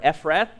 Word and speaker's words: Ephrath: They journeyed from Bethel, that was but a little way, to come to Ephratah, or Ephrath, is how it's pronounced here.